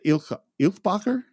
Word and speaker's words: Eilbacher: And then we meet Jenny, which is Lisa Eilbacher. Is that how you say it? Eilbacher, yeah.